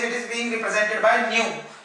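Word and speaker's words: ν: is being represented by nu. It's a little bit twisted small v, which is pronounced as nu.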